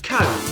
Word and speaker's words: comb: For example, the letter B is a fairly common silent letter. Think of the words comb, lamb, climb. The B is silent, but you'll notice that the letter M comes before the silent B.